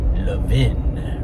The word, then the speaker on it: Levin: You can remember with the Philly pronunciation, Levin, right? It's like some sort of inn or bed and breakfast or something. The Love Inn.